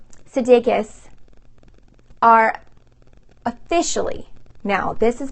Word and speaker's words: Sudeikis: Olivia Wilde and Jason Sudeikis, I always say his name wrong, Sudeikis, are officially, now this has been like maybe not, but it's now official, you guys.